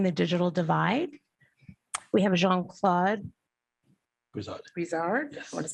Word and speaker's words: Jean-Claude Brizard: We have Jean-Claude Brizard, yes.